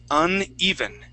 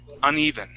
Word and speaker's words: uneven: here the word is uneven uneven uneven is good there you go with that Accent on that first e uneven uneven okay and